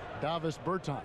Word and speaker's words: Davis Bertans: Davis Bertans.